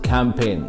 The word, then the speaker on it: campaign: for is from a different place number six c-a-m-p-a-i-g-n how do we pronounce this word this word is campaign campaign meaning of this word is a series